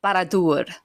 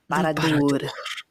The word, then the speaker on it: Barad-dûr: Barad-dûr. Barad-dûr. You have to roll your R's.